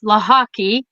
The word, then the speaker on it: Lochocki: Polish last name and it's laki it's pronounced laki because when my ancestors